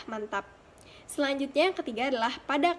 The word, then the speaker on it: mantap: Selanjutnya, contoh yang kedua adalah pada kata mantap. Dalam bahasa tidak baku, pengucapannya adalah mantep, sedangkan dalam bahasa baku, pengucapannya adalah mantap.